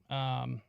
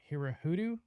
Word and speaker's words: Hirohito: And we also made Hirohito, Hirohudu? I don't know. I can't remember how you pronounce Hirohito. Sorry. Hirohito, we made him surrender in front of the